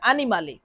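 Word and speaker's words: animale: আনিমালি। আমরা প্রাণী এর ইংরেজি বলি এনিমাল। হ্যা। ইংলিশ ভাষায় কি বলি? এনিমাল। কিন্তু এখানে দেখুন ইতালিয়ান ভাষায় বলা হচ্ছে আনিমালি। মানে কিছুটা কাছাকাছি। এনিমাল আর আনিমালে তাহলে প্রাণী অর্থ ইতালিয়ান ভাষায় কি হবে?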